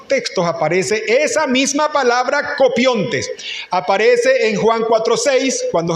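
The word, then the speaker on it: κοπιῶντες: Y esa palabra trabaja en el griego es copiontes. Copiones. Allá está en como se pronuncia, aquí está como se escribe en Diego.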